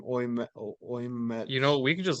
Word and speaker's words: Ouimet: That's with it's supposed to be with how do you pronounce his name? Oymet.